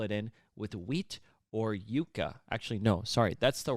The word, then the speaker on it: yuca: in with wheat or yuca. Actually, no, sorry. That's the wrapping. It doesn't only have to be cornmeal. That's what I was trying to say. Yuca. Yuca. Not like you're saying Jew.